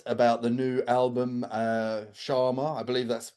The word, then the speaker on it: Chama: We're here to chat about the new album uh Sharma. I believe that's how it's pronounced.